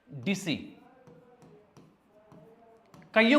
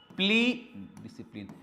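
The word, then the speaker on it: discipline: लगता होगा ये डिस्की, याद रखना एस के बाद तुरंत सी आ जाता है, तो मोस्टली केसेस में क्या हो जाता है, वो सी साइलेंट हो जाता है। जैसे देखो साइंस की स्पेलिंग, एस के बाद क्या है बेटा, सी है, इसको साइंस नहीं पढ़ेंगे, साइलेंट है। तो वैसे डिस्क नहीं पढ़ेंगे, डिसी फिर प्लेन, डिसिप्लिन।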